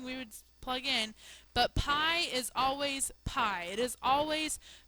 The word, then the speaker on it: pi: We use the symbol right here, okay, which is the Greek letter pi, pronounced like pie that you eat, to represent this number.